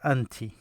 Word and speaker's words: أنتِ: The way you pronounce this is I. So if you put it here, it become actually with أنتِ.